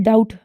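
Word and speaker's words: doubt: mostly silent रहता है इसी तरह आ जाता है word डाउट डी ओ यू बी टी इसमें बी मौजूद है लेकिन इसको हम प्रोनाउंस नहीं कर रहे इस तरह के लेटर्स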